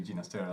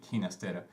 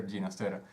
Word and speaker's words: Ginastera: father was caught alone that's his name genus data actually ginastera later and I mean in my country we say teenis Tara and I just found out that he'd prefer ginastera so that's that's kind